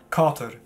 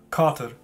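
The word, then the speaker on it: katër: sage ich es so dort haben wir ein er ganz am ende des wortes und das kann verschiedene ausgesprochen werden das hängt von der region hat vom direkt im kosovo wie s ausgesprochen wird ich spreche ist wie eine hürde auseinander denn bis das nennt man das einen bioladen flap das hat man auch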